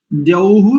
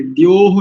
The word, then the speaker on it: द्यौः: अस्तु, देखिए, द्यौः शांति, दोह नहीं करेंगे, द्योह नहीं करेंगे। ध्यान रखिए, कई लोगों का उच्चारण, जैसे अनुपमा जी का और कई लोगों का उच्चारण द्योह ऐसा है।